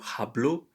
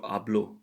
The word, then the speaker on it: hablo: gracias good night yes we don't say you hablo but we say you are blue the h once again is silent the letter h is silent here just like for hombre